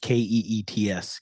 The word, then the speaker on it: Keith's: But it's pronounced Keets. Yes. Keats. But it's spelled like my your name, but it's name. pronounced Yep. EET. Okay. That Yep. makes more sense. It's the Canadian accent.